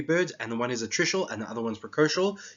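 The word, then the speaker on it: altricial: I actually went and tried to figure out how to pronounce this. It's Articial.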